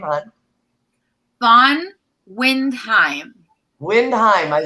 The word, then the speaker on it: Von Windheim: Sita, I'm about to ask you, how do you pronounce your last name, hon? Von Windheim. Windheim. I said it wrong. There we go. It's a difficult one. Windheim.